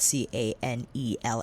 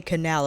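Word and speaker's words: Canelle: I think it's canel because it is spelled C A N E L L E. My apologies, family, because I have a tendency to mispronounce words. And yeah, it's canel, not canal.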